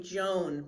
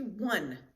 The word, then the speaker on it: Joan: Now, Americans would pronounce that first name Joan, but the J is silent. And it's not Juan like many Spanish names, it's actually Juan. So it's spelled slightly different and it's pronounced a little differently.